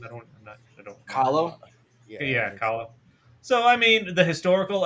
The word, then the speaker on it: Kahlo: Yeah, Kahlo.